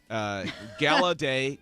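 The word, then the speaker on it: Gallaudet: so have you heard of I think it's pronounced gala day College Wow you we need a mic bot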